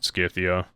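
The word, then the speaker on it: Scythia: I mean, Rome 2 pronounces it Skithia, but I've always said Cythia. I'm going to keep saying Cythia.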